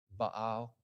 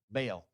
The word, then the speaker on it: Baal: Baal which I just learned that's a proper pronunciation by the way Baal I can't get used to saying it that way but baale I like to say baale because but in